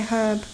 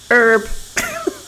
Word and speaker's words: herb: Yeah, you say herb different. We say herb. Americans say herb. They miss the H off.